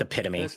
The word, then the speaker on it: epitome: It's It's pronounced epitome, actually.